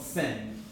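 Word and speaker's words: syn: close with respect to each other is called sin okay it's not spelled the same way to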